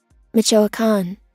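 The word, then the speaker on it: Michoacán: Michoacan.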